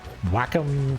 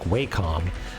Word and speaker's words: Wacom: it with a uh a Wacom tablet um which I apparently is the way you're supposed to pronounce that I think waycom is less stupid sounding but uh it it